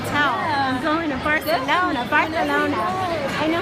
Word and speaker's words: Barcelona: I'm going to Barcelona. Barcelona. I know how you say it. Barcelona. Barcelona. Not Barcelona. It's Barcelona. You don't have to. Barcelona. It depends if you're saying it in Spanish or Yes. Catalan.